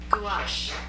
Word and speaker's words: gouache: I can't even spell it. G-A-U... How do you... Oh, there it is. G-O-U-A. According to Google, Gouache.